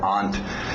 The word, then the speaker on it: aunt: tem pessoas que usam a pronúncia aunt, a pronúncia britânica, mas você pode utilizar, não tem problema, aunt ou aunt.